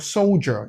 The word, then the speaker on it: soldier: As you can see in the word soldier, yeah, it's not soldier, it's soldier.